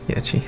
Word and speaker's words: Yachty: It's Yachty. Sorry. Lil Yachty. He'd probably pronounce it the same way.